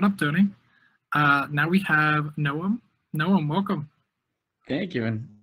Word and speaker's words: Noam: Now we have Noam. Noam, welcome. Thank you, and good pronunciation on my name.